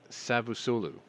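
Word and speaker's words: Çavuşoğlu: this down it's uh sabusolu even though it looks like a c it's kind of pronounced with an s so it's uh sabu sulu sabusulu i think that's what it is uh said that he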